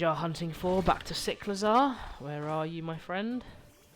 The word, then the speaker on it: Cyclizar: It's Cyclizar. Nah, I prefer Cyclizar. Cyclizar sounds dumb. I know it's more like cycle, but I don't care.